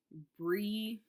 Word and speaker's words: Briogeo: I think it's called Brijo or Brijo. Let me look it up, y'all. So I don't say I'm gonna probably still say it wrong. I'm just gonna say it real. Briogeo, Briogeo.